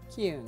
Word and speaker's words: Keune: Keune. Keune, K-E-U-N-E.